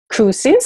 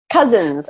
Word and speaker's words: Kuzins: teaching expert it's crewson's how do you pronounce it - Cousins actually means like cousins yes so is